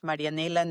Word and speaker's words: Marianela: Brent my as I say my name is marianella from to-do Robotics and there are a